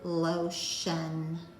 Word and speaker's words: lotion: And it says shun, as in the word lotion. So that's kind of a crazy spelling for the sound shun.